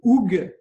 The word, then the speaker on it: hygge: Alors aujourd'hui, on va parler d'un truc venu du froid qui s'appelle le oug. Je prononce bien, Ophélie?